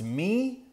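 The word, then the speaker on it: מי: This Hebrew word is pronounced me.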